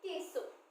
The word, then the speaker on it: queso: queso this is queso when q u e this is k u e are coming together it will pronounce like a k so this is queso and when q u